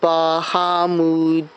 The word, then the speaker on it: Bahamdia: And also, I want to mention that right here, there's also supposed to be a U, because it's pronounced Bahamdia.